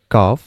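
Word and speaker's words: cough: প্রথম যেটা সেটার উচ্চারণটা কিন্তু হবে এইটা টাফ, এর পরের এইটুকুর উচ্চারণটা হবে বাউ, এটা হবে কাফ, এবং এখানে যেটা এটা হবে ডো মানে হলো ময়দা।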